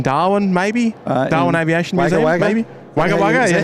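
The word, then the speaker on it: Wagga Wagga: maybe Darwin Aviation maybe wag wag you pronounce it in New South wag wag yeah we pronounce it wag wag wag wager was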